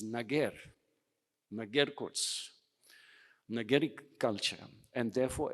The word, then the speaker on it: Nager: in India and Pakistan the own pronunciation in burushaski language is nager nager nager culture and